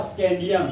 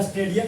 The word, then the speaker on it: scandium: Sc को बोलते हैं स्कैंडियम। क्या बोलते हैं? स्कैंडियम। और क्या स्कैंडियम का स्पेलिंग? SCANDIUM है। ये आपका स्टेडियम नहीं है, स्कैंडियम है, ध्यान रखिएगा, स्टेडियम।